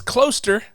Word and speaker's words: Klooster: His last name is Klooster because it rhymes with toaster.